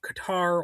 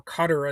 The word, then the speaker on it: Qatar: Trump accepted a Boeing 747, reportedly worth around $400 million, from the government of Qatar, or Qatar as some people pronounce it.